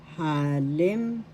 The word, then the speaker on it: halimbawa: The first syllable has the accent.